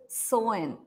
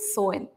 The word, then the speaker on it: Samhain: The Irish festival is called Samhain. It looks like it should be pronounced Samhain, but Ireland has its own language, right? So it's pronounced differently. It's called Samhain.